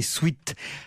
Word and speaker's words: sweat: En anglais, sweat parfois raccourci en sweat, souvent prononcé sweat.